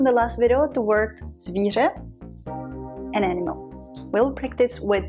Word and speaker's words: zvíře: Remember from the last video the word zvíře, an animal. We'll practice with this word. So there are three things that you need to do. You will put your teeth, your jaw together like this, okay?